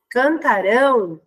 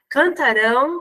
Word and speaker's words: cantarão: eu digo sempre assim cantarão muda a tonicidade né então a sílaba tônica é a última sílaba então a palavra ela é oxítona e cantaram a sílaba tônica é a penúltima ela tá então existe mudança de sílaba tônica né então cantaram tá falava paroxítona cantarão não palavra oxítona tá então mudou aí